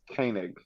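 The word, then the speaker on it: Koenig: Walter Kanek, how do you say the last name? I believe it's Kanig. Kanig.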